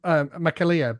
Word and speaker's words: McAleer: I'm going with McAleer, but it is that spot on.